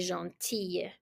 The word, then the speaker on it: gentille: La fille est gentille. So we pronounce it the same way. It's a E at the end. It's like an E and Y, E or E.